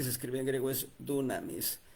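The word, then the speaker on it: δύναμις: escribe en griego es dunamis, pero la pronunciación es dinamis. La u se convierte en una y para que se pronuncie como i. Dinamis.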